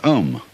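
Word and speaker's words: Aum: of course the sound M that sound is used because if you spell it out a u m it runs from the back of your throat to your lips and therefore it contains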